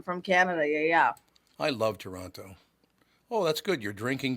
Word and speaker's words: Toronto: Yeah, and people from Toronto, we don't pronounce the second T. That's like a Toronto, yeah. Yeah, we don't. We just ignore that second T, honey.